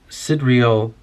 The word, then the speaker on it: sidereal: his astral soul lives in unison with the sidereal anima mundi. I don't know how to pronounce the word sidereal.